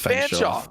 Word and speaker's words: Fanshawe: Nichols, Durham, do you pronounce that Fanshawe? Fanshawe? Yes, Fanshawe.